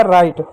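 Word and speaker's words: write: डब्ल्यू डब्ल्यू को डब्ल्यू जब अंग्रेजी में डब्ल्यू आर होता है या एच होता है। वहां पर क्या डब्ल्यू साइलेंट होता है। जैसे एग्जांपल तौर पे देखिएगा डब्ल्यू आर आई टी ई डब्ल्यू का क्या डब्ल्यू क्या यहां पे साइलेंट तो डब्ल्यू आया तो डब्ल्यू साइलेंट होगा। आर का क्या र होगा। आई का क्या? आई की मात्रा ई होगा। टी का क्या ट होगा। हो गया राइट। राइट में होता है लिखना।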